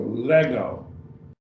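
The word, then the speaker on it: λέγω: Have this next, our last word here, it's a verb also, lego, 2 syllables.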